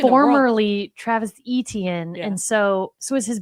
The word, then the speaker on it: Etienne: Yeah, his last name is actually pronounced Etienne, like Devin Etienne almost.